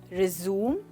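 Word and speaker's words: résumé: रिज्यूम, रिज्यूम या फिर रिज्यूमे। That's right दोस्तों, इसमें जो ई की साउंड है इसको बोला जाता है। ओके, हम इसको रिज्यूम नहीं कहेंगे बट रिज्यूमे कहेंगे।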